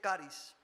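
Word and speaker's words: χάρις: La palabra gracia en griego se escribe charis, o se dice charis.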